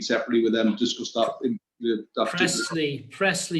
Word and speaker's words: Priestley: And just to remind you, the residents on Priestley Road, I just want to reiterate the offer to meet separately with them, discuss that. Presley, you must learn how to say the local road names. Presley.